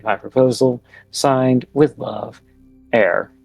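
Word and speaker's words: Heir: Signed, with love, Air. Air is spelled H-E-I-R.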